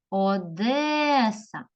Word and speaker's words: Одеса: кожному слові майже зустрічається Одеса кличемо слово Одеса Одеса випаде наголос на другий склад молодці дивимося слово назви